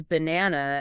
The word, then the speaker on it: banana: And they use banana as the perfect example. That's a great example. Ba-na with the stress on that middle syllable. If you say it the wrong way, like B-N-A-N-A. It sounds very odd.